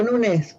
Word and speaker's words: Nunes: la de nunes carvalo Por qué digo nunes porque en inglés no se pronunciaba eh eh la eñe Así que era nunes